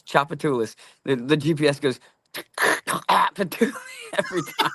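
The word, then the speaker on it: Tchoupitoulas: It starts with TCH. This word actually starts TCH. It's Chapatoulas.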